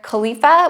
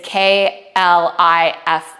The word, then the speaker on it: Khalifa: Also in Coligny is Jean-Pierre Khalifa, which, sorry if I pronounced that wrong. It's Klifa.